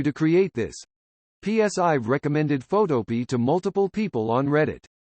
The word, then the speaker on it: Photopea: author Ivanhoe 90 says I pronounce it like a vegetable Pea or like Black Eyed Peas smiley face this reply